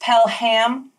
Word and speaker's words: Pelham: Patrick Pelham Ellen Pompeo no it's pronounced pellham no it's pradana white